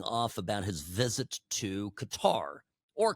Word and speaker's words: Qatar: And, you know, there's been a lot of people sounding off about his visit to Qatar or Qatar. I say Qatar. It's kind of the old school way of pronouncing it.